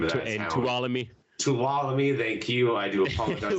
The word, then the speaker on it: Tuolumne: Got the February show, and I cannot pronounce the name of that town. Tuolumne. Tuolumne, thank you.